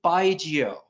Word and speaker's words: baijiu: to say it um consider yourself saying goodbye to someone named giovanni but you're going to abbreviate and call them just geo so it's baigio and that's a word